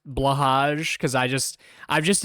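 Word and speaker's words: Blåhaj: there's a reason why I don't even pronounce it like bloh high or whatever is how you actually pronounce blahaj cuz I just I've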